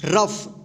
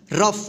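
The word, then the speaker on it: rough: जी ह क्या होगा रफ क्या होगा रफ देखिए यहां पे एफ का उच्चारण होगा यहां पे ठीक और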